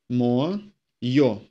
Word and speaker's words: моё: Моё. Моё ends in yo. And all words having letter yo within, the letter yo is always emphasized.